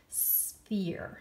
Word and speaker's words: sphere: there's no words here the pH remember we learned pH makes the sound okay your sphere it's like the word fear but then you add an S in the beginning sphere sphere sphere is the